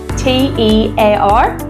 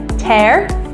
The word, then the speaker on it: tear: An example would be the word T-E-A-R. So we have tear. I tear a piece of paper, and then we have tear, like there is a tear falling down your cheek. So they're spelt exactly the same way, but they have a different pronunciation.